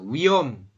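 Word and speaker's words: 위험: nih Mas Febri masih wihom ya wiom h-nya tidak dibaca wiom wiom hm wiom ya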